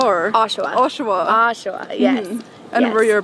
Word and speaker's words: Oshawa: you're born in how do you say it Oshawa or oshaa oshaa oshaa yes and were your parents originally born